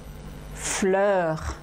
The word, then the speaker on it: fleurs: en leur humeur votre mot essayer de le prononcer avoue fleurs fleurs fleurs il y a le r au